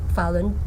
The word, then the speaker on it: Falun: you're asking me was fallin fallin that's the Mandarin pronunciation and in English translation